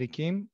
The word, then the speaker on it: Ichim: yes take it away my host mention my name is i'm a okay as i was saying my name is akeem i'm a plant developer